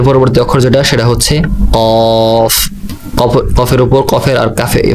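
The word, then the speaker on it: كاف: এর পরবর্তী অক্ষর যেটা, সেটা হচ্ছে কফ। কফের উপর, কফের আর কাফে ফায়ের মাথা একই, শুধুমাত্র নক্তার বেশ কম। ফায়ের মধ্যে এক নক্তা এবং কফের উপর 2 নক্তা।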